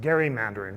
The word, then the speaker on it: gerrymandering: of Massachusetts, famous for, I now pronounce it gerrymandering, but we know it as gerrymandering.